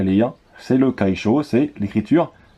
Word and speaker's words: 楷書: Donc l'imprimerie, c'est le kaisho. Donc le kaisho, ça s'écrit comme ceci. Je suis bien dans la caméra, c'est bon. Kaisho. Ok. Donc kai et sho.